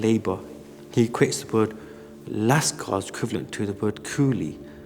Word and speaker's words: لشکر: the 19th century as lascars. It was a term that was used predominantly at the time. The word comes from the Persian language, lascar, it's spelled lam, sheen, kaf, ra. And again, the word made